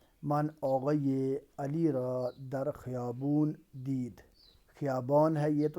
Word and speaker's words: خیابان: آقای علی را در خیابون دید۔ خیابان ہے یہ، تو اس کا تلفظ آپ درست تلفظ جو ایرانین کرتے ہیں وہ خیابون کرتے ہیں، تو یہ یاد رکھنا